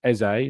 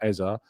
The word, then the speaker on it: Eze: It is Eze, not Eza.